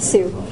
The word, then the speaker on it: Hsu: And it's How do you pronounce it? Sue.